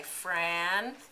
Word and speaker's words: franchise: And what does the silent E do? Makes the I say its name, doesn't it? So we say franchise.